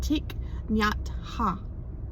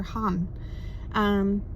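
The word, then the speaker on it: Thích Nhất Hạnh: My understanding is that you say it Thich Nhat Ha, right? Or Han.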